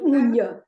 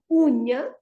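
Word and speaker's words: unha: And the word uña, again, it has got two syllables and the stress is on the first syllable before last. Uña.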